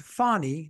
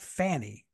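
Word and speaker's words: Fani: now I'm G say it's pronounced fonnie not Fanny is that correct fonnie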